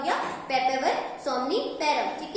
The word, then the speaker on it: Papaver: Economic uses की बात करें अगर हम, ornamental plants, as a ornamental plant हम देखते हैं तो हमारे पास पेपावर रोहियस है, ठीक है।